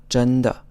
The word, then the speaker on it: 真的: 真, and the 2nd syllable is unstressed. 真的.